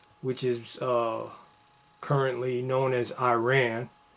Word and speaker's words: Iran: is currently known as Iran, or Iran, the proper pronunciation.